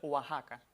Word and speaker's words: Oaxaca: Yasmina y es que esa X la pronunciamos como J. Hay otros dos topónimos que tienen esta misma característica y es el caso de Texas y el caso de Oaxaca. Uno en Estados Unidos y otro también en México. Y esta X suena entonces como J en esos tres topónimos arcaizantes, o sea, topónimos que en un pasado mantuvieron esa X etimológica y su pronunciación es como J.